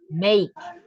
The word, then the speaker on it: make: another example is make we don't pronounce the last e right the pronunciation is make until this part cake